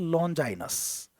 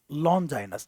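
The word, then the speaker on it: Longinus: ये पढ़ते थे एरिस्टोटल को, ये पढ़ते थे लॉन्जाइनस को, इसका प्रोनाउंसिएशन है लॉन्जाइनस, लॉन्जाइनस। ये दोनों फिलोसफर हैं।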